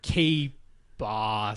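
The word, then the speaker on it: KBāss: It's K-B-A with a line over it, S, K-Boss.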